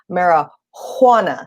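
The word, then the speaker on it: marihuana: for personal possession of mara juana now i say it like that because the texas statute misspells the word and they spell it with an h instead of a j but that also speaks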